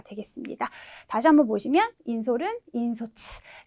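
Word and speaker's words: 引率: 다시 한번 보시면 인솔은 인소츠, 네, 비율은 네, 히리츠라고 읽어주시면 되겠죠.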